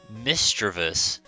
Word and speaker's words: Misdreavus: Today we're looking at, it's pronounced Misdreavus and Mismagius.